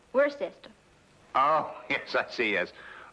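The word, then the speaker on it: Worcester: something else too doc but it's spelled w r c e s t e r where sister oh yes I see yes Lord Worster mhm his M be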